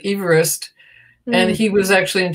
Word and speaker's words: Everest: And what I learned today before this was that it's named after a gentleman named Everest, but you pronounce it Everest.